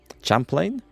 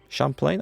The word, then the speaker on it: Champlain: Champlain? Champlain? I think it's French pronounced, isn't it? From Canada.